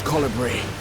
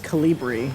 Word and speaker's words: colibri: seen such an enormous colibri. Wait, that's how you say it? Colibri? I always thought it was Calibri.